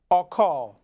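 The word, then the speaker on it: אכל: 12, reference number 398, eat in Hebrew is spelled from right to left, Aleph, Kaf, Lamed, pronounced Akal.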